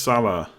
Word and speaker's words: Salah: calm to be honest it's pronounced Salah Salah Salah is it oh God I got